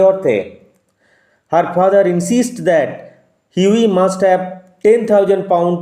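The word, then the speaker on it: Hughie: The story follows হিউই এরস্কিন, উচ্চারণ লক্ষ্য করো, হিউগি হবে না, হাগি হবে না, হিউই, GH will remain silent, GH silent থাকবে, হিউই এরস্কিন, a handsome but financially struggling young man in love with Laura মার্টন।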